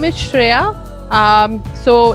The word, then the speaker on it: Shriya: start with the interview session my name is shreya um so it's spelled as s-h-r-i-y-a shriya and i'm the co-founder for the early